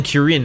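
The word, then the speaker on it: Krjn: I am It's probably pronounced Kirin. Kirin. I am Kurin, a hunter of clan centurio.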